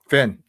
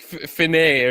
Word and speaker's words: fin: Finn. Yeah, it's just Finn. Okay. I thought it was like Finet or something like that.